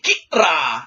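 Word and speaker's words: Qi'ra: Kira is how you perhaps are supposed to pronounce her name.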